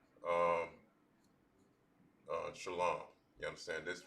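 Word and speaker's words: שלום: In the Lashon Gadash, peace or hello is you saying shalom. But now when it comes towards other different pronunciations of this particular word, to where you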